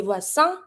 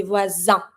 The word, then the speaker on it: voisin: keep in mind that the S between two vowels, which is the case here between two I, you're going to be pronouncing that letter as a Z sound, not a S. We're not going to say voisin, we're going to say voisin, like a Z.